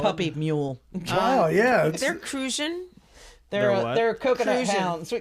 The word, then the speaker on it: Crucian: Cruzan is pronounced Crucian instead of Cruzan. Like you see the rum, Cruzan like rum. Right. No, it's Crucian.